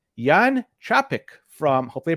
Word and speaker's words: Jan Čapek: I want to bring in the guest it's Yan traffic from hopefully I pronounced it correctly from brains Ahoy Yan how